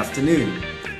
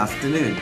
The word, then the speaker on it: Afternoon: ถูก ต้อง นะ ครับ noon จะ ต้อง ขึ้น เสียง สูง นะ ครับ เ Good Afternoon Good Afternoon อ่า อย่าง ง นี้